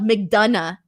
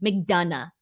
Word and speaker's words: McDonagh: don't know brandon says it's proud mcdonough oh like mcdonough jesus okay so it's spelled m-c-d-o-n-a-g-h i could see mcdonough okay but now i'm not seeing it that way now it's either mcdonagh or mcdonald's or something along those